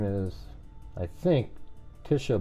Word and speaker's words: Tjhisha: name is I think Tisha ball with a silent J you know tjh three consonant in a row pretty strange oh see